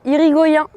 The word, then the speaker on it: Irigoyen: Monsieur Mathieu Irigoyen, on le prononce à la basque, qui peut aussi jouer